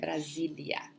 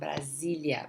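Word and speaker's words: Brasília: Papa Razzi Brasilia Brazil Brasilia notice remember please remember that between the s between two vowels the pronunciation is going to be okay it's a Z sound Brasilia Brazil once Jesus are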